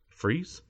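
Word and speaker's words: frieze: saw a beautifully painted frize how do you pronounce it freeze yeah freeze the Kremlin King cast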